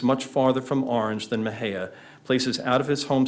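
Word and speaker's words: Mexia: being a great destination no matter how you pronounce it, but you pronounce it Mahia, almost like a greeting called out on the street.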